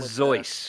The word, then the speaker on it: Seuss: better known as Dr Seuss oh I know where you're going Zeus is actually how it is pronounced like a z right okay Dr Seuss